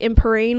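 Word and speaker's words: Empyrean: How would you pronounce it? It's like Imperine or something.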